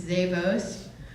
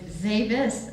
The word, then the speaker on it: Zavis: Now I know some people think it's Zavos, but it's Zavis.